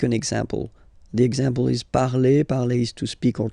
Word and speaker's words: parle: put the ending e, and then the way to pronounce it is je parle. Parle. So remember, we put it, okay, but then we don't really pronounce it.